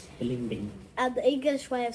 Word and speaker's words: balimbing: Is that how you say it? Yeah, I think that's the Philippine way of saying it. Balimbing.